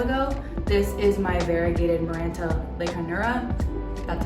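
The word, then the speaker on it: Maranta leuconeura: took a while ago this is my variegated miranta lake hanura that's how you say it and i put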